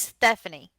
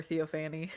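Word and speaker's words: Theophanie: Her name is Stephanie. I don't care what anybody says. It's spelled like Stephanie, but it has a TH and an EO. It is Stephanie.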